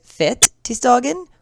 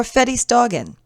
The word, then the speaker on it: Fettisdagen: news television program concerning the proper pronunciation of Fettisdagen. Is it Fettisdagen or Fettisdagen? Our two anchors will be speaking with a Swedish linguist specialist who will go into detail concerning the origins of this name, Fat Tuesday taken from the French Mardi Gras, but ultimately, he will decide for us that both pronunciations, båda, are acceptable.